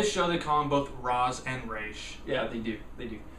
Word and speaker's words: Ra's: want to call it is pronounced race well eventually in the show in this TV show they're calling in race I'm going to show the combo Roz and rash yeah they do they